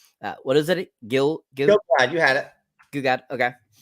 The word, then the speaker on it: Gil-galad: Gil-galad, you had it.